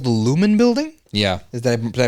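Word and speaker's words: Lumon: it says in Severance, there's a thing called the Lumen Building. Yeah. Did I pronounce that right?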